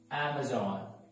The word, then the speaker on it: Amazon: coming out that is amazing so the right pronunciation is al ah ma ma Amazon Amazon Amazon Pizza Hut Mexico honored next one